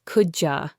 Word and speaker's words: could you: Could you becomes coulja.